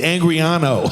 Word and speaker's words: Angarano: Griff, how do you pronounce Say it for everybody. It's Angriano.